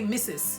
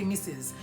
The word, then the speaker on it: Mrs.: So in that case, and remember, it's spelled M-I-S-S-E-S, but it's pronounced M-I-S-S-E-Z. In other words, rather than say Mrs., you want to say Mrs.